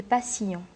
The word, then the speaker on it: passions: C'est lorsque les voyelles se prononcent séparément et comptent chacune pour une syllabe à part entière. Je sens vibrer en moi toutes les passions. Le mot passion applique cette règle de la diérèse.